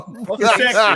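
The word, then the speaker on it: Geschickter: Gesector, that's how you say it.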